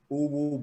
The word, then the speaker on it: Uwu: Tapos, my book is out under Uwu Books.